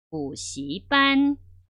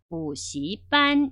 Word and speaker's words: 补习班: 그래서 학원이라는 발음 다시 한번 해볼게요. 补习班, 补习班 이렇게 되거든요.